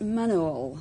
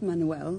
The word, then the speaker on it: manual: Well, it's actually pronounced manual, not Manuel. That's not a Spanish waiter, it's manual.